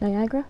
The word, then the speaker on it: Niagara: Niagara?